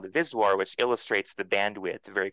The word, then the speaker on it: VSWR: lovely parameter that peop that people pronounce viswar but it's the voltage standing wave ratio so antenna engineers almost